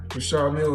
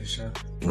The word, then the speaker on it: Richard Mille: No, I like to call this the Well, they people pronounce them different ways. Richard Mille is what my jeweler told me. So, That's exactly how you say it, Richard Mille.